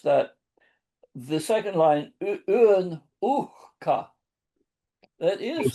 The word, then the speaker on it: uhka: No, but only other thing is it might be easy to miss that the second line un uhka, that is So the H is pronounced there?